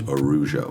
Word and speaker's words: Araujo: But English, you don't do that, so that A goes away and just becomes Araujo. It's like almost like the A doesn't.